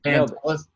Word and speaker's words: Pantelis: Pantelis.